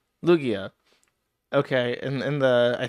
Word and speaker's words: Lugia: Lu I can't pronounce his name. Luigga Lugia. Lugia.